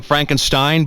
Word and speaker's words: Frankenstein: Frankenstein that's frank enstein I beg your pardon my name it's pronounced frank enstein but aren't you the grandson of the famous dr.